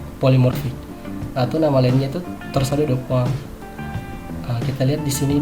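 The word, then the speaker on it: torsade de pointes: Tulisannya torsado de Pointes, bacanya ya torsado de Poinct.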